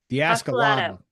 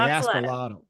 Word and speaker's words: Axolotl: Axolotl. The Axolotl.